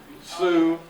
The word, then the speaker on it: Sioux: Cash and Arkansas blackberries, Sue, but then S-I-O-U-X, or however you spell Sue.